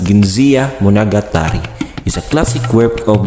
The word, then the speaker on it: Genji Monogatari: the tale of genji genji monogatari pronounced as ginza munagatari is a classic work